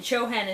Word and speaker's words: Chohan: ray of freedom and chohan is spelled c-h-o-h-a-n chohan of the seventh